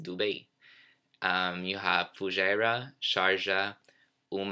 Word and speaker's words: Dubai: so notice how it's not divided it's actually pronounced Dube you have fujairah sharjah boom al quwain and